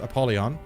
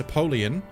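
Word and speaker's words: Apollyon: way the name is not pronounced apolon it's aoleon but I will still call him apolon I need to try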